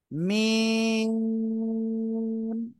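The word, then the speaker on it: ميم: তাহলে আমরা কি করব মিম এভাবে আমরা উচ্চারণ করব বলেন মিম আমি যেভাবে বলতেছি এভাবে খেয়াল করবেন একটু মানে লম্বা করে সময় ধরে আমাদের পড়তে হবে এটা মিম জোরে বলেন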